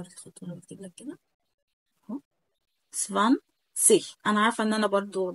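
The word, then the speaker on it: zwanzig: سفان سي، سفان، سفان سيش، سفان سيش، سفان سيش. طيب في نطق تاني طبعا سمعناه، وفي نفس الفيديو بتاع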